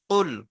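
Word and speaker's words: قل: কফ লামপেশ কুল। কফ লামপেশ কুল।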